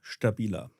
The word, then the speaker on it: STABILA: At home, STABILA.